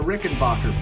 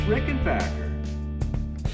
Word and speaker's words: Rickenbacker: I said, thanks for the Rickenbacker book. And she says, oh, it's Rickenbacker.